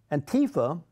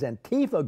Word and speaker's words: Antifa: Antifa, or how do you say? I say Antifa. That's the way to say it, Jay.